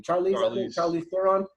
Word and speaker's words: Charlize Theron: So you're not necessarily immortal, but the main character is actually I can never pronounce her first name. Charlize Theron.